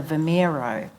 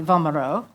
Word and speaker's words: Vomero: want to go and i was pronouncing it as the vermeiro no no he said my mother and so you know that just the pronunciation and so we went up to the vomero and i had a